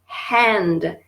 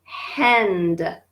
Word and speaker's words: hand: Hand. Et là, je veux qu'on prononce le H. Hand. Hand. OK, c'est important, le H en anglais.